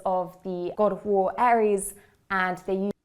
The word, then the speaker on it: Ares: They were the daughters of the god of war Ares, and they used... Just to say it in Greek pronunciation, it would be Ares.